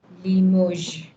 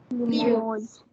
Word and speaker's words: Limoges: Then Limoges. Limoges. Yes, Clean. all of these are French cities, and every pronunciation, ये Nantes नहीं है, ये Rennes नहीं है, ये Cannes नहीं है, ये Limoges नहीं है.